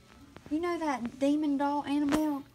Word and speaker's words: Annabelle: You know that demon doll Annabelle? Kathy calls it Annabella. That is a demon doll. Well, you didn't expect Kathy to say it. I don't know why we thought she would ever pronounce it correctly, but you call mine.